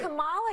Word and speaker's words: Kamala: Let's start, lefties, with this almighty group meltdown on CNN because Nancy Mace allegedly mispronounced Queen Kamala's name. Watch this demented carry-on. And right. Kamala Harris, if Kamala.